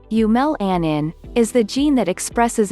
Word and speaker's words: eumelanin: coat color eu melanin eu melanin pronounced yumel anin is the gene that